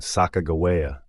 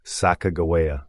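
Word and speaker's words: Sacagawea: meant birdwoman in hia the hidatsa language itself provides compelling evidence for the pronunciation Saka GAA as it contains no J sounds however this seemingly straightforward linguistic explanation faces Challenge from multiple directions the LMI Shoni her native people maintain that her name should be pronounced sakaa meaning boat launcher or boat pusher in their language this interpretation gains support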